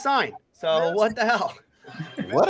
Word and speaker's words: Cine: Minnesota Vikings select Lewis Cine. Okay, another safety. You pronounced it wrong. Yeah, I've been told it's pronounced sign.